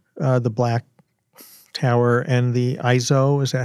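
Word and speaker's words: EIZO: And I have the Apple Tower, the black tower and the ISO, is that how you say it?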